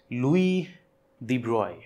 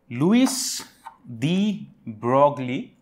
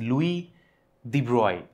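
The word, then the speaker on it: Louis de Broglie: a physicist known as Louis de broy Lewis the brogli but that is how we pronounce it but he was a French scientist and the way to pronounce his name is Louis the broy he was a history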